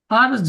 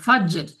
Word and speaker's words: فجر: هي حتى مطلع الفجر ফারজ নয় ফাজ্জের, فجر فجر শেষে একটা উচ্চারণ হবে ফাজ্জের, ফাজ্জের।